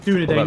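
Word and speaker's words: Dúnadan: of the Rings cuz it dunadan is how you say it but just just a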